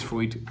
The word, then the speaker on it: Freud: that is Mr Freud please don't get lost in how to pronounce his name his name is Freud don't over complicate it and Freud guys